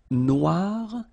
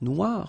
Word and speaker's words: noir: So it's quite funny because you will have to add this E at the end of noir for the feminine form, but then you don't pronounce it. Okay, so phonetically, it is exactly the same.